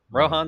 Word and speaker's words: Rohan: Rohan. That's how you say his name correctly. Rohan. Yeah. Yeah. Rohan. Yeah. It's the Indian name. It's the Indian name Rohan.